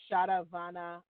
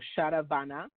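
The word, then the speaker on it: Sharavana: So the mantra is Om Shadavana Bhavaya Namaha.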